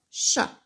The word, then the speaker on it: chat: Et attention là, puisqu'on a à la fin de ce mot une petite lettre qu'on n'entend pas, qui ne fait pas de bruit.